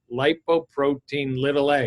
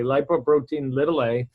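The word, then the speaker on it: lipoprotein(a): in the marketing field lipoprotein little a if anybody can see the cover of the book the word little isn't there it's lowercase a but that's how it's pronounced scientifically lipoprotein little a you could ask your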